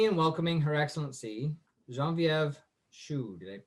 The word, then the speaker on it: Choue: So for tonight, please help me in welcoming Her Excellency Genevieve Choue. Did I pronounce that right?